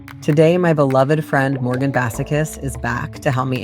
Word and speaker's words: Bassichis: you tell them that your last name rhymes with masochist.